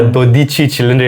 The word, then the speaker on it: Dodici Cilindri: The first story is that uh Ferrari has modified the 12-cilindri or Dodici Cilindri, how the Italians pronounce it. They're very specific about this for some reason.